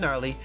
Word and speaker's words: Gnarly: about your old pal, the Silent G Rad Gnarly, saying so long for now.